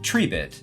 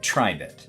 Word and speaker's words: Tribit: it's tree bit yeah it's actually pronounced tree bit not tribit so save all your